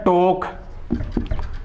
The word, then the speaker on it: talk: तो ये वॉक हो गया, एल इसमें लेटर साइलेंट होगा। ऐसे वर्ड है टॉक, TALK, टॉक, वॉक, टॉक।